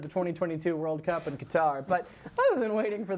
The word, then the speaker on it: Qatar: how do you pronounce it, John? Qatar. Qatar or Qatar, yeah.